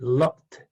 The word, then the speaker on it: loved: Then we have the loved. Loved is a verb that the ED is pronounced like a D.